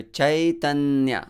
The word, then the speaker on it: Chaitanya: The first is and then it glides into I. Chai, chai, I. Neither A nor I. Chai. Okay? So Chaitanya, Lord Chaitanya, Prabhu Nityananda, Nityananda.